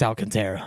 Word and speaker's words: Alcantara: But Sandy Alcant, is it Alcantara or is it Alcantra? Alcantra. Okay, I'm almost positive it's Alcantara.